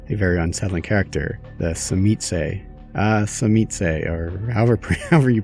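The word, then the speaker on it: Tzimisce: I pronounce it as chimiste, which is like, sounds a little bit Spanish. Cimiche. Yes. Today's word is zimishe.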